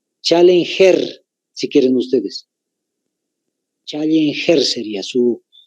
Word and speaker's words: Challenger: se llama el Abismo Challenger se llama otra vez Challenger está en inglés no ve tal como se escucha Challenger pero es con doble L y con g de gato al final Challenger si quieren ustedes ejercería